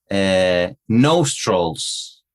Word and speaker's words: nostril: yeah, claro, es una O más, más española, más fuerte que la pronunciación en inglés. Nostril, más suave.